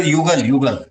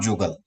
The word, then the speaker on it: Yugal: Jugal that also in our Darjeeling district means Dr. Yugal, not Jugal. Dr. Jugal. Sir. Yugal, Y-U. Yes, because in our West Bengal, sir, there is no year, sir. That's how I am pronouncing.